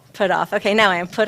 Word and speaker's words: Putthoff: Maybe you'll tell me first. Put off.